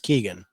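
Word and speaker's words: Keoghan: Keegan or or kogan it's k-e-o-g-h-a-n I think it's pronounced Keegan um yeah that's yeah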